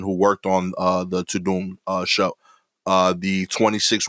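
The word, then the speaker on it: Tudum: on these netflix shows and movies okay uh to doom which is spelled t-u-d-u-m is the sound that the n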